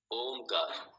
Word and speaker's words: ओम: उ को मिलाइए जब संधि कीजिए तो ये ओम बन जाए ओ आ उ और मा कारा और उसके बाद में ओम के उच्चारण के बाद में साइलेंस शांति तो ये